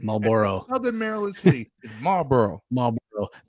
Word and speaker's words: Marlboro: know b-o-a-r-o come on don't try and over pronounce it Marlboro Southern Maryland City Marlboro